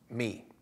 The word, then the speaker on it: Mee: That was by Benjamin Mee. I think I'm pronouncing it right, M-E-E.